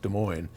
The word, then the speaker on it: Des Moines: us from Adam in Des Moines pronounced Des Moines Iowa and Adam writes